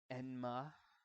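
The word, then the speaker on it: 閻魔: of hell thank you so called hozuki's cool-headedness enma is how you pronounce his name it's always kind of interesting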